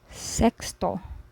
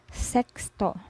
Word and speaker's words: sexto: of a person then another way to pronounce X is like KS as in English paxi box fix when placed inside a word you say so for example sexto sexto which means sixth in